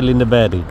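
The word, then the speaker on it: Lindeberg: premium shooting and শার্টিং যে লিন্ডে মানে ইংরেজিতে লিন্ডেবার লেখে কিন্তু সুইডিশ উচ্চারণ হচ্ছে লিন্ড ব্যারি এটা হচ্ছে ওদের পুরন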